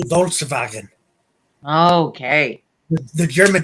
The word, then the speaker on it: Volkswagen: I say Volkswagen, Okay. the German pronunciation.